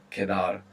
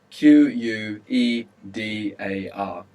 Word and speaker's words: quedar: It's quite a flexible verb kedar. But for now, to remain or to be left over. Q U E D A R. Kar and Q in Spanish is always a K sound.